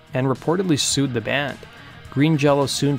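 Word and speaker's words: Green Jellÿ: Green Jello soon changed their name to Green Jelly, with an umlaut above the Y, while still pronouncing their name Green Jello.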